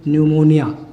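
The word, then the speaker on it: pneumonia: न्यूमोनिया की spelling जो है पी से शुरू होती है, PNU, न्यूमोनिया।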